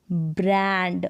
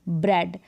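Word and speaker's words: bread: फिर देखिए ब्र, जैसे ब्र एंड, ब्रांड, ब्र यहाँ पर ब्र एड, ब्रेड, इसको ब्रीड भी होता है लेकिन इसको आप ब्रेड पढ़े, ब्रेड का मतलब रोटी या जो ब्रेड होता है वो।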